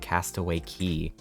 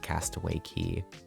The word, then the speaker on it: Castaway Cay: Why is K pronounced key?